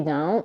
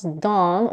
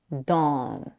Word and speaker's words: Dawn: whole tongue to be down and backwards da da and because the C CAU vowel merger is definitely not Universal let's try to pronounce Dawn with more rounded lips drop the jaw the